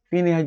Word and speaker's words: Phineas: ciencia es el famoso caso de Phineas gage Fineas gage Fineas escribe p h i n a